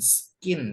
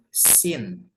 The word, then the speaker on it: scene: alur cerita nah next ini bacanya bukan skin ya skin bukan skin tapi c-nya enggak usah dibaca jadi Sin Sin Sin itu artinya pemandangan